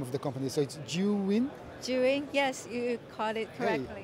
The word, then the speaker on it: Zhiyun: have a bit of a hard time to pronounce the name of the company so you win cheering yes you caught it okay and you